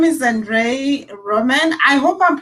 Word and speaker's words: Andrei Roman: a special guest okay so his name is andre roman i hope i'm pronouncing your name you are absolutely yeah so